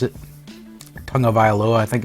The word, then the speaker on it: Tagovailoa: Do they go with, I don't ever say Tua's last name because I'm afraid I'll mispronounce it. Tagovailoa, I think it's how you pronounce it.